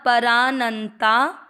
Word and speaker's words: परानंता: प में अ का उच्चारण परा, न के साथ आधा न, परानंता।